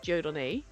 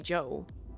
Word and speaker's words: Jon: do apologize cuz like my first name is Jon and that's something that like English speaking people cannot I mean cannot pronounce it because the the o sound that is in there doesn't actually exist in the English language so there was go